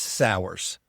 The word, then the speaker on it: Sauers: Yes, it's Sours, co-founder and CEO of Royal Restrooms and of Krugerg Bush Campers.